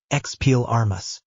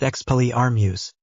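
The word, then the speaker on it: Expelliarmus: Exel Armas. Nothing happened. Davis frowned and looked at his wand. What did I do wrong? You said it wrong, Harry said. It's expell Armuse.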